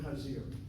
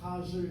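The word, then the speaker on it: חזיר: Anyway, the word chazir. If you're called a chazer is the Yiddish Ashkenazi pronunciation.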